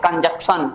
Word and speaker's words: कंजंक्शन: सो कुछ बच्चे कंजक लगा देते हैं, कंजक्शन, ऐसा नहीं बोला, कंजंक्शन, कंजंक्शन, इंटरजेक्शन।